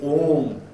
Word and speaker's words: Om: here is th got the OM om is a syllable which is consisted of three letters a u Ma and these three letters they